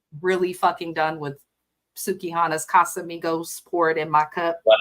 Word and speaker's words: Casamigos: She can't even say Casamigos. It's not Casamigos. Ha. Take Spanish. Ha. That's how it should be pronounced.